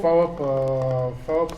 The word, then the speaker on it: PHAWOP: FAOP, ça s'écrit PHA. WOP.